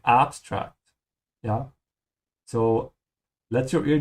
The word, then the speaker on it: abstrakt: Notice here the difference in pronunciation, even though the two words look almost the same. The difference is in the rhythm and which A you stretch. So, abstract, I'm stretching the second A in German.